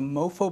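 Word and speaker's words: MoPhO: Stamford mobile phone Orchestra that shines to mofo but it spelt with the ph featuring all iphone ipod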